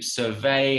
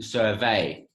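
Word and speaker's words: surveil: the downloaded software to survey our activity. To survey, yeah? Silent L, you don't hear that. Survey, no se pronuncia la L.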